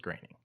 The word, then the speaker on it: Groening: And until most recent, the last couple of years, when he did things like that, I was still calling him Groening because I didn't know it was Groening.